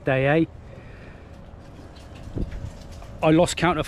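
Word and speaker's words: Deshaies: little Anchorage but it's lovely so this is day a that's how you pronounce it it looks totally different on the chart the way it's spelled but it's cooked pronounced day a I lost count of how many times I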